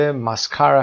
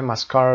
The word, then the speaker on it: mascara: خب تبلیغات در مورد ماسکارا هست. کلمه ماسکارا رو ببینیم. ماسکارا و یا ماسکارا که امریکنش تلفظ دوم هست.